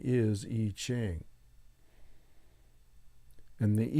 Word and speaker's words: I Ching: is some people call it it's not really I Ching although it's spelled with an i I space CH ing eaching or arching the correct pronunciation is eaching and the e Ching is an ancient Oracle